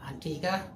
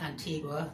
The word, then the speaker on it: Antigua: This time the trip started in Antigga, pronounced the English way, not Antigua, the Spanish way, though spelled like that and usually mentioned with Barboda, but not this time.